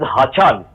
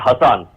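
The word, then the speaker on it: Hasan: Hassan Mahmuds, particularly, we must remember that the pronunciation of the name of the honorable foreign minister of our neighboring country is Hassan, not Hassan.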